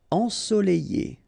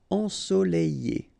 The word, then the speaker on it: ensoleillé: Ensoleillé. Remember, double L after E. Ensoleillé.